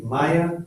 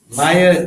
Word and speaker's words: Maya: Maya normally means like illusion or magical show, Maya, an appearance. But the word Maya is made up of two syllables. Ma-ya, Maya, Maya, Maya.